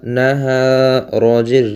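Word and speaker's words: نهار: হা জবর হা, নাহা নাহা, রজের রি, নাহারি নাহারি, অক্ফ করলে নাহার, শেষে যে রটি আছে রটির উচ্চারণ কি এখানে উচ্চারণ হবে না অক্ফ করলে।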